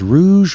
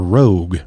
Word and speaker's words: Rouge: I don't know if it's Rouge or Rogue, right? I think it's Rouge. The Nain Rouge is, I believe, how it's supposed to be pronounced.